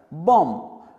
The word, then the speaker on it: bomb: ऐसे ही BOMB क्या होता है? बॉम्ब। इसमें हम B का प्रोनाउंसिएशन, उसका उच्चारण नहीं करते।